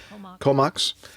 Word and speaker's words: Comox: Is that the way you pronounce it? Comox? Yep, Comox.